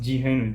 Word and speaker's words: Jihan: not my name because it's pronounced Jehan Jehan does not make